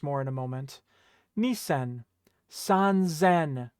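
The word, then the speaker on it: 三千: Sanzen. Right? Notice that it became a Z sound.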